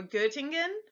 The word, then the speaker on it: Göttingen: The O sound, it's a little tricky. It's so tricky, but it's like the O in word. So you'd say Oeta or Göttingen.